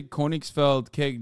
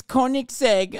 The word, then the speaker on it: Koenigsegg: newer and they're explosive why'd you say koenigs felt cake w am I saying it wrong is that why you got well not koenigs spelled Koenigsegg oh okay whatever suck my dick I don't know cars like that it's Koenigsegg ah shut up nerds